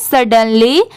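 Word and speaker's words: sudden: इसे कैसे प्रोनाउंस करें तो इसे पढ़ते हैं सडन एस यू डी इसकी साउंड शुड नहीं आएगी इसे सड की साउंड आ रही है सर्ड और डी ई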